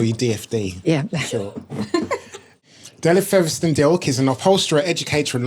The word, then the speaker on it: Delyth Fetherston-Dilke: Delyth Fetherston-Dilke.